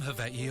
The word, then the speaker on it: Hawaii: uh no you so you pronounced it right but he kind of didn't I mean he's he's he's hitting that kind of like V sound that we know of on the on the W but he's going a